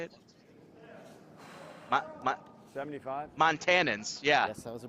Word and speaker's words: Montanans: Montanians? Is that how you say it? 75. Montanans, yeah.